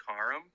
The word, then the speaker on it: Karam: man first i want to say it is pronounced kharam uh yeah yeah it's uh but it's okay